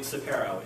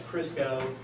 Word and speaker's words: Ciparro: It's very hard to pronounce for some reason compared to its spelling. And don't worry, if you mispronounce it, I am perfectly fine with it because you'd be the 1 millionth caller. I promise you. I've heard it as Crisco, Ciparro, all kinds of different things.